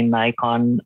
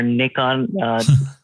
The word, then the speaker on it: Nikon: And then I decided to buy my own DSLR, which I remember it was a Nikon or Nikon, depending on how you want to pronounce it.